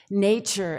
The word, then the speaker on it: nature: The middle sound in nature is not t, it's ch.